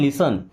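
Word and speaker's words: listen: लिसन टू मी, आप इसे देख रहे होंगे इसको लिस्टन पढ़ना चाहिए ना, बट नो यहाँ पे टी साइलेंट से क्या पढ़ते हैं लिसन, लिसन मीन्स सुनो, टू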